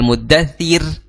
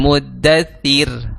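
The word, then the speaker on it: المدثر: Kira-kira bacanya ya ayyuhal muddathir apa ya ayyuhal muddathir ya. Ya ayyuhal muddathir ya. Kalau ro-nya berharokat huruf sebelum ro berharokat kasroh, maka ro-nya itu tipis ya. Ro-nya itu tipis. Jadi ya ayyuhal muddathir, seperti itu.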